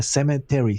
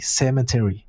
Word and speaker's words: cemetery: no pronuncies la N, cemetery, cemetery. Sí, cemetery.